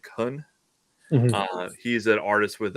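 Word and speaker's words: Kuhn: uh I can't pronounce it's k-u-h-n like Khan uh he's an artist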